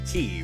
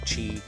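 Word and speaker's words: Qi: key would say kabish it's definitely Kei right like not Chi I've heard people pronounce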